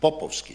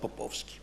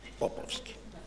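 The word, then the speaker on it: Poposki: Macedonia Mr Nicola popovski a good pronunciation popovski not popovski popovski and uh someone who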